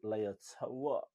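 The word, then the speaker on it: Leota: The centres, he's got Ngani Lumape and Ali Leotoa. That's how you say his name, Toa.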